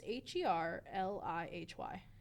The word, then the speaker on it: Herlihy: Well, it's probably pronounced Hurley. No, it's Herlihy.